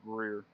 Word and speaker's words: Greer: I think you've been the one pronouncing it correctly. It's Greer.